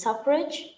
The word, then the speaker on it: suffrage: How it correctly can be pronounced? It's suffrage?